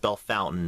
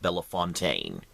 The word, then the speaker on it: Bellefontaine: is getting a little more Cosmopolitan yes it's pronounced Bellefontaine not Bella Fontaine it's people who are from out of town